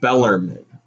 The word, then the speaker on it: Bellarmine: inch five louisville's muffins actually it's pronounced bellarmine my dad yelled at me for that because bellarmine is in louisville tcu is beating mississippi